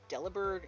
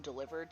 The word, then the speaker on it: Delibird: supposed to be on I think it's pronounced delibird in like official media but it's supposed to be a pun on delivered so it should be delivered okay okay tangent um